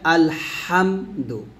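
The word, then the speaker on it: الحمد: দেখুন, এই হাটা আমরা যখন উচ্চারণ করব অবশ্যই গলার মাঝখান থেকে উচ্চারণ করব, হা এরকম, তাহলে উচ্চারণটা হবে আলহামদু, আলহামদু, আলহামদু, এরকম। আলহামদু বলা যাবে না, আলহামদু বলতে হবে।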